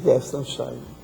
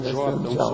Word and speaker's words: Weltanschauung: Weltanschauung, com um J, um Weltanschauung. som de J. Tem uma ênfase maior no A.